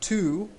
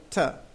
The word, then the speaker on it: to: I'm not really saying to, I'm saying ta.